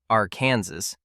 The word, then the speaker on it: Arkansas: Now we are heading central to Great Bend, where the Arkansas River, pronounced Arkansas, don't you dare say it the other way, bends south.